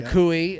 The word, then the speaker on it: Akue: And so while we're at it, Zach Akue, is that how you say it? Akui. Yeah. Akui, a registered nurse, a refugee from Sudan, who's lived in Sioux Falls most of his life.